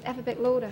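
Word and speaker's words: Afferbeck Lauder: And the man's name is Afabek Lauder, which if you say it quickly, is Afabek Lauder, which is how they say alphabetical order, you see.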